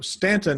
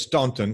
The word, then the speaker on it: Staunton: So Stanton is spelled Staunton. That's right. When I ask Siri, she says Staunton. She's not from there.